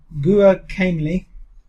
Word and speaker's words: Guacamelee: Guacamelee. Guacamelee. Guacamelee. Guacamole. Yeah, that's Guacamole. Guacamole. Guacamole. That's not what it says. Guacamole. It says Oh, right. melee, yeah. It's guacamole, but with melee instead.